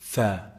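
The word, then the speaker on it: ث: to produce that sound, but they produce sa instead. No, it's actually tha, tha. Look at the tip of the tongue and the edge of the upper incisors. Tha, tha. Tongue out. That's how you say it.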